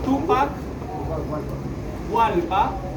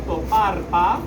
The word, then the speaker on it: Tupac Hualpa: Él es el señor Tupac Hualpa. Los españoles no pronunciaban bien su nombre, por eso le decían Toparpa.